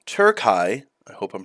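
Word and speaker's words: Türkiye: of History my favorite subject picture this in tury not turkey tury I hope I'm pronouncing that right among the dust of Ages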